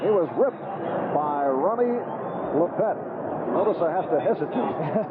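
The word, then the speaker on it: Lippett: He changed the pronunciation. 6-yard pickup. Ronnie Lepet down in Miami 2 weeks ago with the New England Patriots as they played the Dolphins on Monday night. Everybody, all of his friends, as we take a look at Freeman McNeil, seems to be on. All of his friends were calling him Lepet. He says, that's my real name. That's the real pronunciation.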